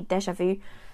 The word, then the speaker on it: déjà vu: Yeah, that's exactly the same than in French. There's nothing magical about this, but it's literally déjà vu. And same with the two accent on the E and the A. So you literally take the French expression in English with English accent.